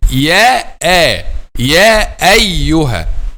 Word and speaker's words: يا أيها: This Arabic word tahqiq, it means to pronounce the letter Hamza 100% clearly. Ya ayyuha. Ya ayyuha is to make it clear 100%. Okay, so this is the right pronunciation of the word Ya ayyuha.